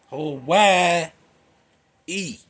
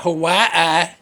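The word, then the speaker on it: Hawaiʻi: Hawaii. E Hawai with two Y's. I don't know how you get that. Hawaii E, not Hawaii.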